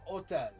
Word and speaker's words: hôtel: But in French, it's hôtel, right? Even though there's an H, the H is silent.